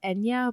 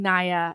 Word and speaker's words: Nia: also in the um in the audible it's it's pronounced Ena but I've been I've been saying NAA and I can't stop